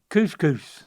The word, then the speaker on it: couscous: It's just 2 syllables, Dad. Oh, couscous.